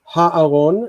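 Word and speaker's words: הָאָרוֹן: So ha'aron has 3 syllables: ha, distant, a, near, and ron, tone.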